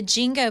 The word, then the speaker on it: Jingo: And then the Jingo Post Office. So for those that don't know, Yep. Fairview used to be called Jingo. Jingo. And so, Not B-I, J-I.